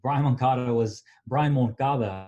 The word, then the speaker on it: Brian Moncada: But before that, Brian Moncada, I should say, is how you actually really pronounce it.